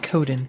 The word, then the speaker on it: Coden: And yours is pronounced Coden, correct? Yes.